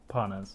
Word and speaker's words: Parnas: Is it Parnas? Parnas, yeah.